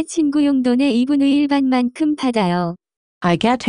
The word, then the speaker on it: 용돈: The pronunciation of this word is closer to 용돈.